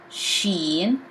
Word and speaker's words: ش: english as in choose s h in english sheen pronounced as sh she in as in shems most